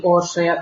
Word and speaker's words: Orsolya: I am Orsolya from Budapest, or proper Hungarian pronunciation, it would be Orsolya, but nobody calls me that.